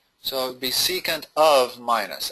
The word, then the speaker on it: secant: um C can time x okay that's that's pronounced secant of negx it's not it's not really times